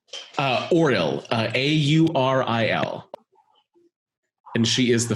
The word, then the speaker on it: Auril: Aura? Auril, Auril.